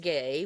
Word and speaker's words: Gue: I knew that it had origins from the area of the Caribbean, but I looked it up, and actually, GUE, pronounced gay, was came from a